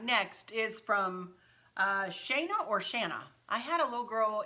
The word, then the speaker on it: Shana: All right, next is from Shana or Shanna. I had a little girl in our color guard when my girls were in marching band, and her name was spelled like this, and she pronounced it Shayna.